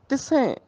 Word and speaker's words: तिसें: तिसें सस्से हाहे नूं सियारी आ गई, इत्थे नासकी उच्चारण होएगा तिसें, भाव उसनूं तिसें ध्यावो सास गिरास।